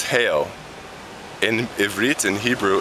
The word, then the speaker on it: Hale: My name isn't Halle. It's Hale.